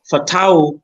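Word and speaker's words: Fatawu: um there's there's a boy a Ghanaian called fatau isahaku fatau is like money but with the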